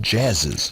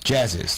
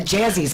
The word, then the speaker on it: Jazziz: It's pronounced Jazziz. Jazziz. Because we kept going by, what is that Jazzy's place?